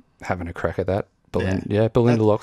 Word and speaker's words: Ballindalloch: So yeah, Speyside distillery out of Ballindalloch. I'm having a crack at that. Ballindalloch sounds good. That's the Australian pronunciation. Yeah. Ballindalloch.